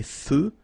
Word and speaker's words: feux: So here, final X, not pronounced. Des feux de circulation.